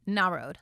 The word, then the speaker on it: Narod: It's Narod. Like na, take the road.